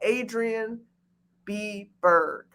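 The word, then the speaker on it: Adrienne B Burg: follow your girl at adrian b berg okay it's exactly how it sounds adrian a d r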